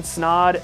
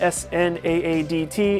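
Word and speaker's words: Snaadt: It is Snaad, S-N-A-A-D-T. It rhymes with odd.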